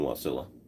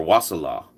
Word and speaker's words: Wasilla: Up the road in Wasilla. Or Wasilla. If you want to put the wrong emphasis on the wrong syllable.